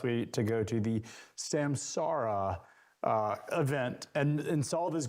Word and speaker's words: Samsara: the name people say Samsara. I kept saying it. Julie had to correct me. I finally realized you have to say it like a pirate. It's Samsara. Argh. It's the R.